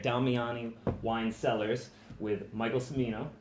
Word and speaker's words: Cimino: wine cellars with Michael Cimino right Jim you know shamino I'm sorry that's okay and family in the South States to me knows the true Italian pronunciation is like church okay Jimmy you know